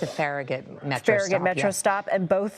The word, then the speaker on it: Farragut: Sam, am I pronouncing Farragut correctly? I'm not from DC. Okay. Yes, it's a Farragut Metro.